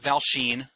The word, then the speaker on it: Valchine: His name is Mark Valchine. Nailed that pronunciation of the last name, didn't I, Mark?